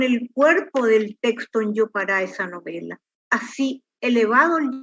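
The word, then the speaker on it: jopara: La palabra yopará se escribe con J, cuya articulación fonética en lengua guaraní es Y. O sea que así la articulación fonética de la palabra es yopará, porque se escribe sin tilde como todas las palabras agudas en guaraní. Toda palabra guaraní sin tilde es aguda.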